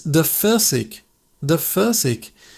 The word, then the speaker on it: Pfirsich: It's de Pfirsich. De Pfirsich. That P-ev sound at the beginning is quick, like a puff of air. Pfirsich. The ending ish is a soft sound from your throat.